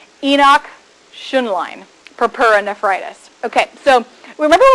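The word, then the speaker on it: Henoch-Schönlein: sure I say this in the correct German pronunciation Enoch tion line purpura nephritis ok so remember we talked about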